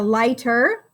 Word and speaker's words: light: I would say light, like a lighter. Or you could say like turn on the light. Light. And it's got that silent G-H.